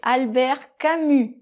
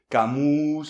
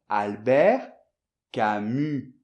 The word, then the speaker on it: Albert Camus: Alors là, j'entends de tout, Camousse - Camille non ? - Camille, Camou. Il y a de tout ! Donc, Albert, et le S final de Camus ne se prononce pas.